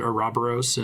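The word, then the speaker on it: Ouroboros: this i know that i think in greek that's supposed to be oro boros but they pronounce it are robberos and uh and bravely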